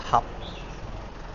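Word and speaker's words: 合: In Cantonese it's pronounced hap.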